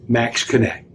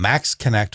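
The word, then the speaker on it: Maxxkonnect: it works for us it'll work for you max connect check it out i've got one of these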